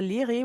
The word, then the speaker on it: LIRI: At the same time, the linguistic research infrastructure, LIRI, which could rhyme with Siri, has been established after having been integrated into the Swiss Roadmap for Research Infrastructure in 2018 already.